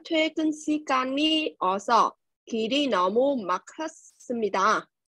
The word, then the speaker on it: 막혔습니다: 하지만 퇴근 시간이 어서 길이 너무 막혔습니다. 막 hết nha, đọc chữ cờ với chữ hờ gặp nhau, đọc là chữ khờ.